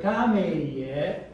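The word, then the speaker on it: kameie: So for example, in the word kameye, well, not the kameye. Listen, where's the stress? Kameye. Kameye. First, second, third, or fourth? First. First. Kameye.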